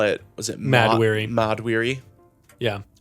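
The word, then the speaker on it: Mahd Wy'ry: And they call it, was it Mad-weary. Mad-weary. Yeah. And it's mad weary. Yeah. Which is, just a spelled differently. stupid Jack Kirby thing, but they spell it weird.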